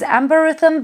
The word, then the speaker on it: Amberythme: Therefore, I will pronounce this perfume as Amberythme because I want to honor quite a clever wordplay in the name.